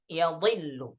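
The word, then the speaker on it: يَضِلُّ: Kemudian di riwayah Syu'bah bi fathil ya'i, ya, wa kasril dhad, dengan memfathahkan ya, ya, dan mengkasrahkan dhad. Jadi dibaca yadhillu, ya.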